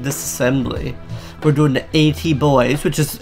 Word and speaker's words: Boys: We're doing the AT Boys, which is, it's pronounced boys. Some people put an extra E in there to make it boys or anything.